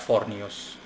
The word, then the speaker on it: Forneus: haven't covered yet and it's forus or as I simply like to pronounce it flat foros in any case forus